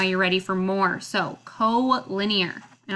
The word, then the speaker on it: collinear: ready for more so co-linear and it looks like collinear but it's pronounced co-linear so collinear if you remember linear